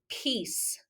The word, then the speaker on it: piece: not a valtine okay ie is not a vowel team but when we see i e it will almost always say e okay this is the